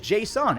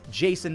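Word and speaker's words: Jasson: ago for botching Json I thought it was Json it's not it's Jason Dominguez who would have thought I was quickly reminded that I was saying it wrong because he was literally named after Jason giami I don't know why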